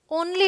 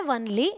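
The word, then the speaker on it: only: once बोलते हैं लेकिन ओ एन एल वाई ओनली होता है वनली नहीं होता क्लियर गाइज अब देखिए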